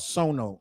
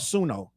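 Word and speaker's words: Suno: Timberland works for a company called Sono. It's called Sununo. I was saying it wrong on my whole video.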